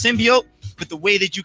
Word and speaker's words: symbiote: says because that is it is pronounced symbiote but the way that